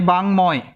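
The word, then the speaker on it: বাঙ্ময়: আমরা এই যে এইটার উচ্চারণটা এরকম হবে, বয়াকার, এখন উমো হবে, বাং, এরপর হবে ময়, এর সঙ্গে একটা বাং ময়, বাংময়।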